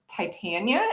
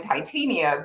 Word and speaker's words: Titania: fairies and tit Well, I guess Titania is how the name is traditionally pronounced, but I pronounce mine Titania with a very science background. I thought, oh, this is related to the metal, right?